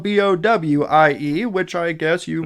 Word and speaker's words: Bowie: whatever this is spelled b-o-w-i-e which I guess you it looks like David Bowie but it's not it's Bowie Bowie Maryland so thankfully 13 year